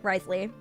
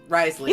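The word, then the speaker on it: Wriothesley: we could put her above how do you pronounce his name again Risley Risley you call him rly as in like he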